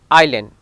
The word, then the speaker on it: island: Now letter S is not pronounced before I in some of the word. Iceland is not Iceland, it is island.